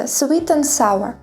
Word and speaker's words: sweet and sour: солодкий Sweet and sour Зверніть увагу що D не вимовляється Sweet and sour наприклад I like Sweet